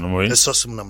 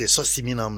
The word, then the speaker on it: Esossimnam: Esossimnam Lakassa, je prononce bien. Oui. Sinon, vous dites Esossimam, non, c'est pas ça.